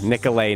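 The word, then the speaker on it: Nicolet: of what what was that uh it is pronounced shaaman nicolay National Forest on the shaaman bay up near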